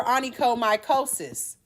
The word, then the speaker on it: onychomycosis: You're going to remember this by the way it's pronounced. So here, this is what we came up with. Oh my God, sis, you have a fungus. So onychomy, oh my, cosis.